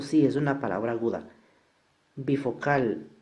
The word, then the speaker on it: bifocal: Bifocal, la fuerza recae acá, por lo tanto sí es palabra aguda.